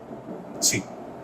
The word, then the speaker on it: Chi: This is how you pronounce it, Chi, Greek alphabet, Chi, LT Fy by gamma M naught.